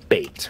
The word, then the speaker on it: BEIT: b e i t bait is how we pronounce it because they're baiting you uh but the first